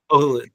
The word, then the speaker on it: Hohulin: So Hohulin. yeah, no problem. It rhymes with no foolin'.